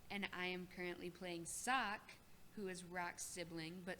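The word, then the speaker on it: Wukz: i am currently playing sock who is rock sibling but sock is spelled w-u-k-z and i am also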